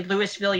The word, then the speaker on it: Louisville: the only one that's only Lewisville you pronounce that that way yeah although to be